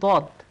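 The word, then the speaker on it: ض: তাহলে আপনি দেখতে পাবেন সেটা হচ্ছে বলিন, এটা ঠিক দলিন না, আবার ঠিক জলিন না, এটা হচ্ছে দুইটার মাঝখানে কম্বাইন্ড একটা উচ্চারণ। এবং আরবি ভাষাকে এই জন্যই বলা হয় লোগাতুদ দদ, দদের ল্যাঙ্গুয়েজ, অর্থাৎ এ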